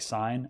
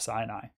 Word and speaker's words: Sin: It is spelled like sin, and I said it as sin. It's probably actually more like Sin, as in Sinai is one of the mountains in this Sin area.